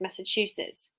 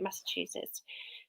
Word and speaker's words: Massachusetts: somebody said how to pronounce massachusetts massachusetts two i think we left it as two as in choo-choo so i remembered it that way am i right have i remembered it right massachusetts so it's quite a